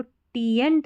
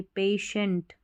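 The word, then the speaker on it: patient: अब इसको टीएंट नहीं पढ़ेंगे, पेशेंट, पेशेंट, क्योंकि पेशेंट, ये जो TI है ना इसको श पढ़ा जाता है, तो पेशेंट मतलब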